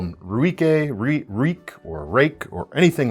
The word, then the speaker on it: Ruike: It looks like Ruike or Ruike, but I think it's pronounced something like Rake, actually.